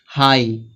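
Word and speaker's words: high: Silent होगा। यहां पे दिया है हाई।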